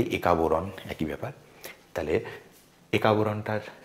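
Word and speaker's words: একা-বোরন: এবার আমরা এটা বাংলায় উচ্চারণ করি। একা বোরণ।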